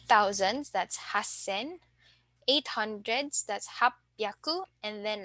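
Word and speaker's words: 八千: we have 8,000 so instead of haisen we will say Hassen okay so let's take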